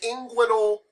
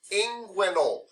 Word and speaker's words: inguinal: It is tough because I cannot pronounce it. Do you know what it starts with? What letter? I. Yes, that's the inguinal region. Huh? Inguinal.